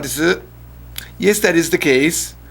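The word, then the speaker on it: です: Normally people say, how come the U in des is silent?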